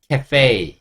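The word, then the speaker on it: café: 프랑스어인이 카페라는 단어를 씁니다 그리고 그때는 프랑스어 느낌으로 그냥 그대로 발음을 해요 그래서 알파벳 2가 여기서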